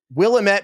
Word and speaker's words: Willamette: He owns and operates a small vineyard and winery in the Willamette Valley in Oregon.